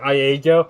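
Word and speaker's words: Iego: ago i love how ia go and that's how you say it even though it's it's because it's a capital i and the way that they spell the capital i it looks like lego i like how ia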